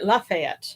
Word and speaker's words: Lafayette: In proper French, it would be Lafayette. Lafayette, yeah. But it kind of got distorted, and that's the difference between one of many differences between Cajun French and Continental French.